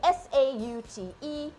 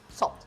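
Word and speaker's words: sauté: Sambil-sambil kita belajar, marilah kita sambil-sambil belajar macam mana nak pronounce certain words macam saute, S-A-U-T-E, it is saute, not salt.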